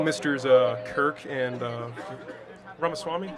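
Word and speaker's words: Ramaswamy: thank you hello mr's uh Kirk and uh ramaswami right yeah yeah uh so WR pronunciation right there I appreciate that thank you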